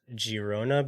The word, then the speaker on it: Girona: this one it is Girona because it's in catalunia and in the catalon language G's are pronounced with like the soft G well I've learned something